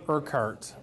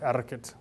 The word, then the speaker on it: Urquhart: Pronounce my name Urquhart, unless you're in Scotland and then it's Gaelic and it's Urquhart.